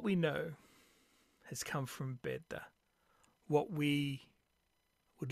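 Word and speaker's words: Bede: source on this is the venerable bead or bed as more is the correct way of of pronouncing and um keeping in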